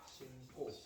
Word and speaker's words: 신고: 자, 어떻게 발음해요? 신고. 그쵸? 여러분 몰랐는데 신고예요. 이상하다. 나는 기역, 디귿, 비읍, 받침 뒤에만 된 소리가 오는 줄 알았는데 알고 보니까 뭐더라? 아니 비음 뒤에도 오네?